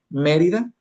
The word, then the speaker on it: Mérida: Por ejemplo, Mérida Mérida. Entonces, Mérida, la antepenúltima sílaba es me. Entonces, por lo tanto, debe llevar acento.